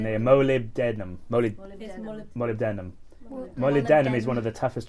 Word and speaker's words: molybdenum: the room model it actually has how to pronounce it down there mo lib denim denim molybdenum is one of the toughest transition metals it's